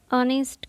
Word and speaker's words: honest: जैसे HONESTGIRL, ऑनेस्ट girl. इसका H silent है, इसका एच क्या है? साइलेंट। तो इससे पहले कौन सा आर्टिकल लगेगा? एन। इसको बोला जाता है ऑनेस्ट गर्ल।